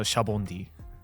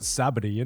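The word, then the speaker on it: Sabaody: Shabondi because it comes from the word shabondama, which means bubble. Oh. Yeah. The Japanese word for bubble is shabondama, so Shabondi. Because I was always like, why do they not pronounce it Sabity, innit?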